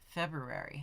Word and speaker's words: February: what's what's what's wrong I'm pronouncing the first r February January February March February